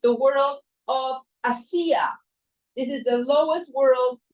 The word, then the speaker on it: Asiya: This world is called the world of Asiya. This is the lowest world. It's called the world of Asiya. And in Spanish, I love this word because in Spanish it rhymes with hacer.